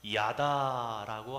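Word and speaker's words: ידה: 발음이 중요한 것은 아니지만 야다라고 하게 되는데 이것을 직역하면 던지다라는 뜻이 됩니다.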